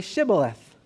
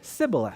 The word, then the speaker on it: Shibboleth: they said to him then say Shibboleth and the Ephraimites would say Cybil if we could go there ever we want y'all for they could not pronounce it right then they seized him